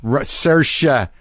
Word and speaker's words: Saoirse: come on yes sir she Russia Ronan and I learned how to say her name from watching her monologue on SNL but the movie Lady